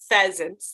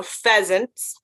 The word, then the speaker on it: pheasants: this one is pronounced pheasants the pH makes the F sound so pheasants this one is pronounced